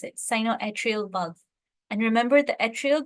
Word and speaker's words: sinoatrial: Yeah, that's how you pronounce it, sinoatrial valve.